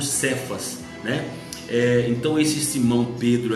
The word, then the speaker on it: Cefas: né Sefaz também né o nome dele é pronunciado no grego por cefas né então esse Simão